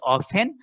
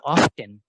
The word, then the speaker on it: often: একটু আগে যারা বললে অফেন আর অফটেন, ঠিক আছে, তাহলে টি আছে, আমি টির উচ্চারণ কেন করব না? টি আছে, টি এর উচ্চারণটা আমি কেন করব না? This is American, easier. So অফটেন is American and often is British.